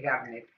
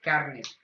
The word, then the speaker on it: Garnet: Mi hermano no sabe pronunciar el nombre de Garnet. En vez de decir eso, dice Carnet.